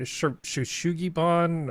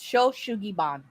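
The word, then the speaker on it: shou sugi ban: You had it almost correct. It's Shoshugiban. Okay.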